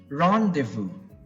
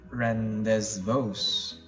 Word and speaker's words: rendezvous: correct next one rendezvous rendezvous run de vous rendez vous now it's definitely not run this voz okay you will not make the Z sound and their sound its rendezvous again Ron